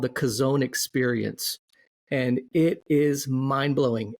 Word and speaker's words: Chazown: So it is not the Calzone Experience; it's the Kazone Experience.